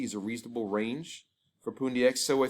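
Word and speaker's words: Pundi X: The correct pronunciation of this coin is PoonDX.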